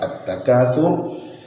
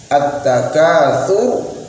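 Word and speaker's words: التَّكَاثُر: kalangan masyarakat kita ialah mengganti huruf tha yang harusnya dibaca tipis menjadi huruf sin. Tha, ti, tu, bat terganti menjadi sin. Sa, si, su, bas. At-takatsur dibaca at-takatsur. Jadi seharusnya cara membacanya ialah at-takatsur, sur, tha, ti, su,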